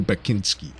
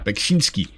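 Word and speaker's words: Beksiński: How do I say his name? Is it Beksinski or Bekinski? I think there's like an S in a weird place in his name. Beksinski. There we go. That's where the S is.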